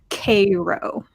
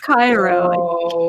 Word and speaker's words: Cairo: Versailles and then there's one called Cairo not Cairo in a row I